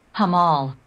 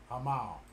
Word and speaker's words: Hamal: to approach this okay let's get the proper pronunciation hamal hamal hamal okay that's the star it's approaching